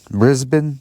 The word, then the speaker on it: Brisbane: it he went to Brisbane Brisbane I think that's the proper way to say Brisbane Brisbane Sydney Queensland all